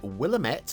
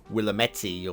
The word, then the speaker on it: Willamette: and apparently it's got a river called the willamette hopefully got that pronunciation right it's probably willametti or something but i'm going with willamette and i'm going to stick with that throughout today's show uh